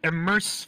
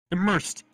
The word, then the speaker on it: Immersed: Oh, Immerse VR, if I'm not mistaken. Okay. Let me double check if I'm saying it right. Immersed. IMMERSED. Okay. Immersed VR.